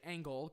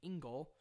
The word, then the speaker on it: Engel: A lot of people think, because I say Engel because that's closer to the actual German pronunciation, but a lot of people Americanize it by saying Engel.